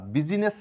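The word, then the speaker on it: business: আই এর কোন sound নেই এটা বুঝিনেস বা বিজিনেস না বলে আমরা বলবো বিজনেস কারণ আই এর কোন এখানে সাউন্ড নেই বিজনেস নেক্সট সাইলেন্ট লেটার যেই এই যেই লেটারটি কখন অনুচ্চারিত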